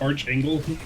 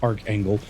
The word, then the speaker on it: archangel: arc angle did you just realize that said Arch angle no I I just realized that you said you said arc angle I realized it's pronounced arc angle that's what that's what uh that's what set